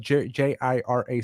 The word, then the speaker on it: Jira: trying to figure out to this day what JIRA stands for. Yeah. Okay. So just letting you know, there's different levels here. That's pronounced Jira, isn't it?